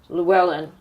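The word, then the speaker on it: Llywelyn: 100 of his young followers, actually less than 100 of his young followers, but 100 archers lent him by Llewellyn, in proper Welsh pronunciation, against 10,000 English knights, led by Edward, who was to become Edward I, King of England.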